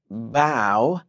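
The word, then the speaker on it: bough: mhm and don't forget bow right names with cow bow cow bow cow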